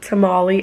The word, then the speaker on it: tamal: And I ate a tamale. I don't know how you guys pronounce it. Because some say, I say tamal in Spanish, but some people say tamale.